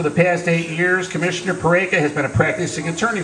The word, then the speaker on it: Peraica: i didn't think so my name is pereika it rhymes with america can you remember that